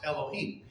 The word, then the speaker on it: Elohim: Well, it's pronounced Elohim.